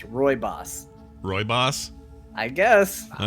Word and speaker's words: Rooibos: It's Rooibos. Rooibos? I guess. All right. They Sure. could have made it easier to spell it that way.